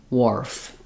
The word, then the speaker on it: wharf: or War Warf um usually if you see it this way that kind of translates the H is silent like it is in words like what or where also in Warf um and we just have that o r sound then dwarf even though